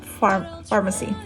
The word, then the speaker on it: Farmasi: But Farmasi is spelled like this. Pharmacy that I'm gonna share is Farmasi, which is Farma Pharmacy SI Pharmacy. So it sounds like that. Farmasi.